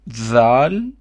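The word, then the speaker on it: ذال: So this is called dhal, and we spell it the.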